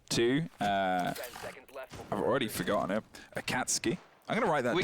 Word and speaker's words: Akatsuki: of anime if much it's pronounced Akatsuki apparently I can't skate a